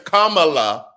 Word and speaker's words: Kamala: pelosi's fight or a kamala harris kamala harris her name is kamala or ayanna presley her name is ayanna it was the continued mispronunciation of the names for me i caught